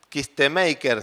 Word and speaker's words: Kistemaker: Dice Simón Kistemaker, se pronuncia. Entiendo que se pronuncia así. Se escribe Kistemaker.